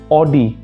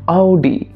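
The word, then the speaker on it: Audi: এই শব্দটা প্রায় উচ্চারণ করে থাকে শব্দটা হচ্ছে অডি কিন্তু অডি একচুয়াল প্রোনাউন্সিয়েশন না তাহলে একচুয়াল প্রোনান্সিয়েশনটা কি সেটা হচ্ছে অডি ওকে আউডি জুলু আউডি এসব তো হলো।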